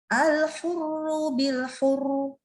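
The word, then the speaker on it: الْحُرُّ بِالْحُرِّ: Jadi, er-nya tuh masih bertahan sampai kayak kita kalau baca bil-hurri. Nah, tapi i-nya nggak ada. Jadi sekarang al-hurru bil-hurru. Bacanya dia tetap tebal.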